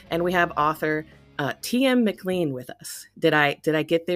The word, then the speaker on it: McLean: No, it's a bit funny, really, because Scottish people always tell me that my name's McLean. So they always say, "Oh, you're saying your name wrong," but it's my name. I say McLean, so right.